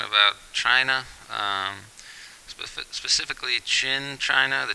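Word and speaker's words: Qin: China um spe specifically chin China the Chin Dynasty um q i n uh we pronounce it chin so the Chin Dynasty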